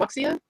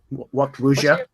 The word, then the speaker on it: wuxia: It's not just the how to act like a snake fighter, but the whole, how do you say it, wuxia? Yeah. Wuxia.